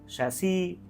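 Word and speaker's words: chassis: this word is patois, this word is शैसी, this is child, this is charlatan, this is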